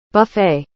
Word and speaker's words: buffet: Buffet. Buffet. Nossa, não tem T, mano. É buffet, buffet.